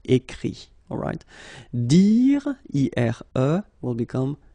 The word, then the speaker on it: écrit: Remember that phonetically this final T doesn't exist. Okay? So the sound will be only this I, écrit.